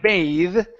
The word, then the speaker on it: bath: your throat okay uh the other one bath okay is a noun okay that's going to be a short a a a okay and then an unvoiced uh unvoiced th okay bath take a bath